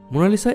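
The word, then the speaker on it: Mona Lisa: মোনালিসা একটি Italian ভাষা, এর সঠিক উচ্চারণ হল মোনালিসা, যার অর্থ মাই লেডি।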